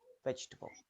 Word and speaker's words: vegetable: the r temperature temperature in vegetable the second e can disappear yes vegetable vegetable vegetable chocolate in chocolate the